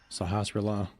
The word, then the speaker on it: Sahasrara: I believe it's pronounced Sahasrara.